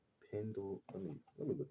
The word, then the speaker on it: Pendleton: from uh Pendleton Ward I was calling him Pennington Ward that's not even his name I think it's Pendle I mean let me